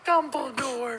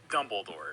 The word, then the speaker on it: Dumbledore: Surprisingly, one of the harder ones to find is actually Dumbledore. It's pronounced Dumbledore. Sorry, Dumbledore.